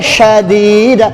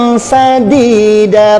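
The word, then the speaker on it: سديدا: Kita bacanya syadida, seakan-akan kita itu fasih, padahal bacaannya salah. Seharusnya wa qulu qawlan sadida, pakainya sin kecil bukan sin besar, karena sin kecil beda titik saja itu sudah merubah arti.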